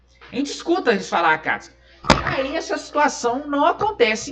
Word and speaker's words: Akatsuki: sabe muito bem que o U nessa situação é mudo, então é Sasuke, né? Escreveu lá com U, mas o U não é igual a Akatsuki, né? Tá escrito Akatsuki, tá escrito S-U, mas a gente fala Akatsuki, né?